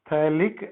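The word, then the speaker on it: phthalic: थैलिक acid, है ना? क्या बोलते हैं? पी साइलेंट है इसमें, we call it एज थैलिक acid.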